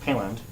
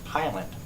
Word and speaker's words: Piland: It's not Piland, it's Piland. You know?